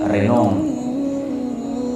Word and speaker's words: Renan: Orang sana bacanya Renan.